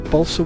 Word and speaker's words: balsa: a car out of Balsa balsa wood is that how you pronounce it Balsa it's how we pronounce it in the UK anyway so what I'm going to